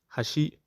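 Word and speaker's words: 橋: For instance, in Japanese, hashi means bridge, and hashi means chopsticks.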